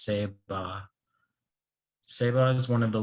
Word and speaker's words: Ceiba: The word Saiba comes from a Taino word pronounced Seba.